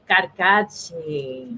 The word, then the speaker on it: Carcache: how do you pronounce the last name? I don't want to mess it up. Carcache? Carcache.